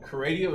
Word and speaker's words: Kradio: Kradio is spelled K-R-A-D-I-O, where the K-R stands for K on the right.